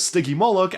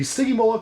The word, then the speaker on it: Stygimoloch: I looked it up and I've seen a lot of different variations and arguments on how it should be pronounced, so I personally just decided to go with the way that LEGO themselves pronounces it, as Stygimoloch, as you can see in the LEGO Jurassic World shorts. Now, these creatures are obviously